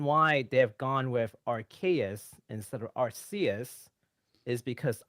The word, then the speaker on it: Arceus: looked into it and archaea is actually the proper english pronunciation look what did this